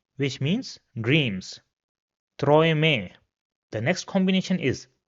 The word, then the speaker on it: Träume: So the next combination is A umlaut and U, and this is pronounced as oi.